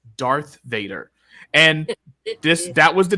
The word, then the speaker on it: Darth Vader: pronounce the names right I was calling him Dar Vader I was like oh it's dark was supposed to be Dar Vader my mom says Darth Vader and this that was